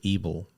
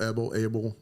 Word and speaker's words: Ebel: Ebel, Abel. It's German, so it depends on how it's said. Yeah. That's what my dad taught me. He goes, none of them's wrong. It's just how they would pronounce it.